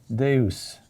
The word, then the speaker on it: Deus: So we take our classic word for the spondees, Deus. Spondee, huh? Accent on the next to last syllable.